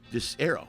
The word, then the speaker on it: Disero: dis-air like a i r- o you just go arrow arrow dis arrow dis arrow right nope it's impossible they